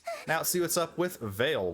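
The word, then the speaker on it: Veyle: see what's up with Veil which rhymes with whale that's the last of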